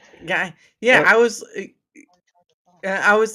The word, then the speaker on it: Geyer: Guy, yeah, Uh, I was like, well, how do you say this? It looks like it says Geyer there, not Gayer.